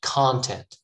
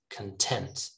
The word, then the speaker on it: content: is a nice summary look the stress is in the first syllable here right content but here the stress moves to the second syllable so the first syllable has that schwa content all right you will